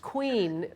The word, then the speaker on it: Kouign: start with a name it's pronounced queen but it's actually spelled ke o u I